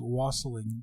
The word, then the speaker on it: wassailing: here with the pronunciation we pronounce it here is wassailing rustling and yes and the